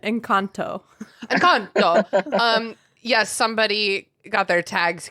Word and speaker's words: Encanto: Encanto? That was the extremely white pronunciation. Encanto.